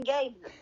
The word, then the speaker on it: Gaye: pronounce his last name? Gay. Oh, so it's not like Gabe. I gave you $1. No, it's gay, like the sexual orientation.